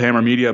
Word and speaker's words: HMMR Media: site, as you said, it's called Hammer Media, but it's spelled HMMR Media, just to be a little fancy, I guess, or different.